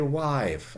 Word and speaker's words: wife: english reef short and today wife and e the e was never there okay it never it was never wi-fi or anything like that no huh i wasn't never wasn't pronounced ever it's an etymological and it's used as a symbol of vowel length since we have a